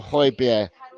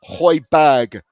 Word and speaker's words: Højbjerg: And Ellie, I am Ange and Pierre-Emile Højbjerg in. Did I say it properly this time, Ellie? Because I keep getting hammered by you because I say Højbjerg, but I don't. I say Højbjerg.